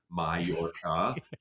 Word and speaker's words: Mallorca: parentheses spelled out phonetically, Mallorca, because after naming it, I realized most Americans most most English speakers aren't going to realize that two L's is a ya sound.